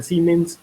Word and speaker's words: Siemens: si no dicen siemens se escribe sienes se pronuncia ciments es una esa mayúscula y pues este tipo